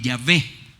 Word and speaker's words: Yahweh: Y que la mejor pronunciación de ese nombre, el nombre que le han puesto, la traducción que le han puesto, es Yahweh.